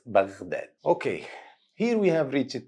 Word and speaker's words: بغداد: Don't say Baghdad, it's Baghdad.